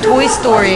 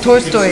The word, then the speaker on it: Tolstoy: You know, you say Toy Story. I'm like, no, Tolstoy. And she's like, no, no, no, that's not how you say it. It's Toy Story. Like, T-O-L-S-T-O-I, Tolstoy.